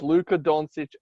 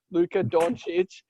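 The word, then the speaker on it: Luka Dončić: no one is on the same level as luka doncic at this point sorry let me say it right so you don't you don't yell at me luca doncic at this point in his career i'm not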